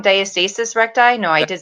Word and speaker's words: diastasis recti: So if anybody, I see one person's watching, comment if you have, I'm saying it wrong, diastasis recti.